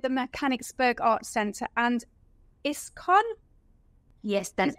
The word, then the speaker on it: ISKCON: So tell us a bit about your involvement with the Mechanicsburg Art Center and ISKCON. Yes, that's right. I pronounce that right?